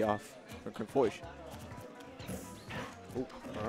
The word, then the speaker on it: Chrim Foish: Chrim Foish.